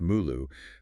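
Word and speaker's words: 目录: And just for context, those Chinese characters inside the the brackets, they're pronounced "mulu".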